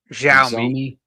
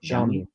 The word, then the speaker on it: Xiaomi: Xiaomi. Xiaomi. Yep. Xiaomi.